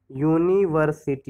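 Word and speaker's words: university: तो यूनिवर्सिटी का प्रोनाउंसिएशन क्या होता है, यूनिवर्सिटी होता है। क्या होता है, यूनिवर्सिटी, यानी किससे शुरू हो रहा है ये, यू से। ठीक है, या से आ रहा है, या से।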